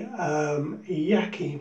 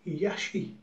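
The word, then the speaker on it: Yaqi: It is the same knot as comes in the Yaki Mocha, and I believe actually Yaki, I've been told it's pronounced Yashi, so perhaps we should say the Yashi Mocha, the mu knot.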